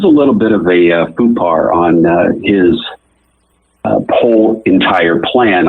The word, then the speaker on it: faux pas: Are you, are you attempting to say faux pas? Because it sounds like you're saying poo-pas. Yeah, faux pas. I thought you had some unusual and unique derivative, but it's just a mispronounce.